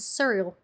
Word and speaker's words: Suriel: Which, once again, it's a name I don't know if I'm saying right, but I'm gonna say Suriel.